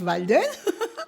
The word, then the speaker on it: Walden: Yeah, spelled with W though, W-A, but pronounced Walden.